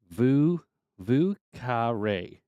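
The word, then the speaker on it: Vieux Carré: Vu Carre is how it's pronounced. New Orleans style drink. Okay, Vu Carre.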